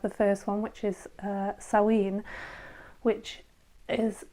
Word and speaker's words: Samhain: So technically we have the first one, which is Samhain, which is spelt Samhin, but it's a Celtic word, which is why it's pronounced Samhain.